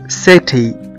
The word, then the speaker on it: city: حرف السي لو جه وراء حرف الإي أو الآي أو الواي، في الحالة دي احنا بننطق السي كأنه حرف إس.